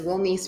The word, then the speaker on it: Wilnise: My name is Wilise and yes, you did pronounce that correctly.